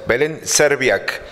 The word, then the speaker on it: Belén Serbiak: Hoy es la inauguración de una muestra de ficción, Claudia Mantoan y Belén Serbiak, así se pronuncia, Belén Serbiak y Claudia Mantoan juntas presentan ficción.